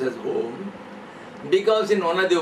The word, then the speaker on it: Om: Because the word Om is made up of a plus u plus m. So, a plus u plus m becomes there is a u m.